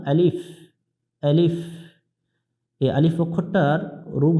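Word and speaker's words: ألف: অনেকজন এটা ভুল করি শেষে বাংলা দিয়ে প উচ্চারণ করি অর্থাৎ আলিফ বলি আলিফ বলবো না আলিফ আলিফ এই আলিফ অক্ষরটার রূপ হচ্ছে দুইটা এখানে লেখা আছে উপর থেকে নিচের দিকে খাড়া টান আলিফ তার নাম আলিফ তার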